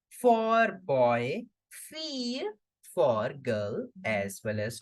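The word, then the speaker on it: fille: between i and e so we will simply pronounce it as fear fear for girl and daughter and boy simply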